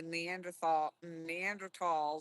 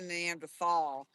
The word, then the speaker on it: Neanderthal: And we can thank the Neanderthals. I always say it wrong. I always want to say Neanderthal, but it's not. They always say Neanderthal.